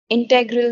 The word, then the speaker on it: integral: Perfect knowledge indeed leads to perfect love, integral knowledge to a rounded and multitudinous richness of love. The synthesis Um, of yoga. the pronunciation again is integral, not integral.